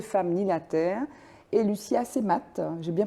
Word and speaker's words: Lucie Assemat: Marine Alla, donc co-réalisatrice de Ni les femmes ni la terre, et Lucia Semat, j'ai bien prononcé?